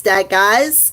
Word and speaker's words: Dagaz: So we have, this is Dagaz, or Dagaz, or Dagaz, however you want to pronounce it. It's D-A-G-A-Z.